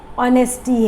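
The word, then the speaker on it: honest: पर हमने देखा है कुछ इंग्लिश में वर्ड्स होते हैं जिनके प्रोनाउंसिएशन अलग होती है, वर्ड कुछ होता है, प्रोनाउंसिएशन कुछ होती है। तो इसमें जैसे H के वर्ड्स हैं, आर है, ऑनेस्टी है, ऑनेस्ट है, देन ऑनरेबल है, एयर है, तो इसके साथ हम क्या यूज़ करेंगे? एन, क्योंकि इसका साउंड जो आ रहा है हमारा H से जो है वर्ड शुरू हो रहा है, बट प्रोनाउंसिएशन जो हमारी है O की है, जो वावल साउंड है, ओके।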